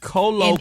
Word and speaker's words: colloquially: If you're saying queerly, you should have given him a W. Colloquially.